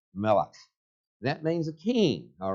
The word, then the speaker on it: Melech: You see the word Michael, but that it would actually have been pronounced by the Hebrews as Melech.